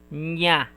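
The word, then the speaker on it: にゃ: This is ni and ya. But you will pronounce it as nya.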